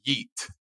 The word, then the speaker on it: Yeat: with this this guy there's a guy named eat uh y-e-a-t that's how you spell it yeah i had never heard of this